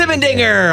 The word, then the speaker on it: Simendinger: Simendinger!